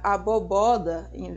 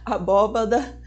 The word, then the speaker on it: abóbada: ao invés de bandeja pronunciar aboboda abóbada aboboda desculpa em vez de abóbada pronunciar carangueijo no lugar